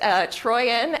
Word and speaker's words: Trooien: My last name is Trooien, pronounced Troyen.